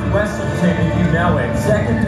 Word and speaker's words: Weaselton: Oh, I'm not going back to Weasel Town. Okay, first off, it's pronounced Weaselton if you know it.